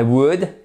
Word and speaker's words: would: I would et pas I would. Non, on ne prononce pas le L.